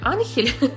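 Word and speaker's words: Ángel: А я теперь думаю, может быть, мне вот малыша тоже назвать Хавьер Энджел? Он, правда, Хавьер Анхель, но у меня будет Хавьер Энджел. Это просто это испанское имя, и, видимо, поэтому читается немножко по-другому, чем пишется.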